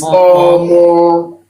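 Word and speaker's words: ọmọ: And what tonal mark should we have on the vowels for Omo? There should be the dot under each O. Yeah, and we've got that. Yes, very And a good. critical mark. Any top marks? What should we have at the top of the vowels? Is it dodo? Or No. Omo is Réré. There's nothing on top.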